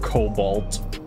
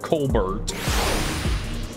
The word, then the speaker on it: cobalt: you can't pronounce him like Cobalt I was trying to put an r in there cobbert I don't like the color cobbert hey looks like you